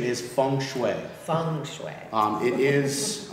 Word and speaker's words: feng shui: it feng shui or feng shui the correct pronunciation is feng shui feng shui um it is uh it is